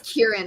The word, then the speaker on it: Kieran: there's a baby culkin oh it's kieran i've been saying it wrong well tina that shows